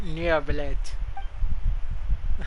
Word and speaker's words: Neuvillette: It's pronounced Neuvillette.